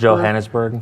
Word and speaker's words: Johannesburg: Johannesburg.